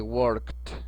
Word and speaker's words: worked: A las terminaciones que dice que si el verbo termina en estas letras, la terminación ed se va a pronunciar como si fuera la letra T, de la siguiente manera: I worked, I worked, ajá, que significa yo trabajé.